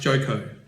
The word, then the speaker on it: Joko: The pilot's name is Joko, pronounced Joko.